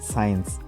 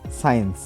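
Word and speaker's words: science: আমাদের next word আছে সাইন্স এখানে আমাদের কি এস সি আই ই এন সি এই যে প্রথমের যে সি আছে সেই সি টা আমাদের এখানে সাইলেন্ট থাকবে এর উচ্চারণ কি হবে সাইন্স যার অর্থ হচ্ছে বিজ্ঞান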